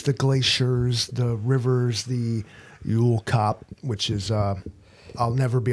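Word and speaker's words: jökulhlaup: Uolkop, and it's spelled So like a Yule log, but Yule with the cops.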